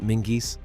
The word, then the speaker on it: Menzies: If your name is Menzies, your family introduced the larch to Scotland, and you pronounce it Mingis.